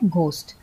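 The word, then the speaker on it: ghost: होता है जैसे राइट अन्यथा ग होता है जैसे घोस्ट कभी-कभी जी एच का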